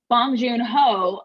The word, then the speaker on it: Bong Joon Ho: want to make sure i'm not saying his name wrong bong joon ho uh is doing uh an incredible job again